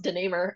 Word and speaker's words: DeNamur: I'll just tell you my last name is pronounced DeNamur. But yeah, joining in from Seattle and just excited to have a chance to share a couple things with your audience. Thank you. Thanks for coming, DeNamur.